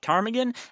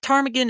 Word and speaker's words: ptarmigan: The ptarmigan is not pronounced with a P.